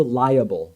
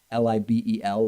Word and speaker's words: libel: he should sue for liable. Now, why am I pronouncing it liable? Because that's how Trump spelled it, L-I-A-B-L-E, I guess meaning, of course, L-I-B-E-L, libel, a published false statement damaging to a person's reputation.